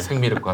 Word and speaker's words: 생미륵: 생미륵과 함께한 시간 너무 생미륵 하니까 생미역 같은 생미역 같잖아 좀 그거. 발음을 정확하게 좀 부탁드리겠습니다.